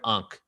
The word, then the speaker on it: ankh: the invisible world so ankh was actually pronounced n-k-h not a-n-k-h n-k-h because the a